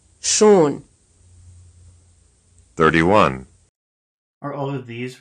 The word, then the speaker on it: schon: 25, Here's another syllable pronounced right and then wrong. Schon. shown.